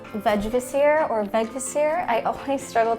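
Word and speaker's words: Vegvísir: In Icelandic, it's said something along the lines of Vegvisir, Vegvisir.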